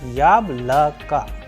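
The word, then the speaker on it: яблоко: vowels, that is O, and O after letter K is coming as A. So yablaka.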